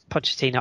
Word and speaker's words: Pochettino: loud here Pochettino real madrid apt ipod yeah Pochettino I did I thought I thought it said